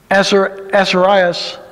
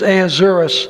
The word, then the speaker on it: Ahasuerus: The book of Esther opens, "Now it came to pass in the days of Ahasuerus," this is, wrong pronunciation. "Now it came to pass in the days of Ahasuerus," this is Ahasuerus, "which reigned from India even into Ethiopia, over